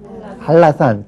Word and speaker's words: 한라산: 리을로 바꿔 버리는 거예요 우리가 한라산 그렇게 쓰죠 그러나 발음은 할라산 그렇게 발음을 합니다 역시 할 한해 니은